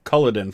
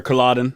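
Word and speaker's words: Culloden: of the sites including culleden for example so or colladen i'm sorry i always pronounced that wrong um yep grumbled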